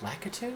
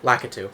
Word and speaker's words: Lakitu: route through this course this is his name pronounced lakitu lakatu that was lakitu i could be completely wrong